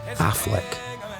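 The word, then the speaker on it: Auchinleck: and anciently pronounced and sometimes spelt affleck awk and lek is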